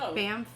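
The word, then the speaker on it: Banff: that I am dying to go where okay bamp National Park have you ever heard of it bamp is that how you spell it or pronounce it B ban B an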